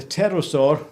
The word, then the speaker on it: pterosaur: reptile known as the pterosaur that's with the silent p was found on the